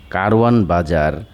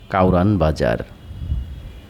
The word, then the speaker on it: কারওয়ান বাজার: সময়ের ব্যবধানে কারওয়ান বাজার স্থানীয় উচ্চারণে হয়ে যায় কাওরান বাজার।